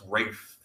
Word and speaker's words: Ralph: It's not Ralph. It's Ralph. No, it's Rafe. That's how it's Ralph. R-A-L-P-H is. No, look it up. He pronounces it Rafe.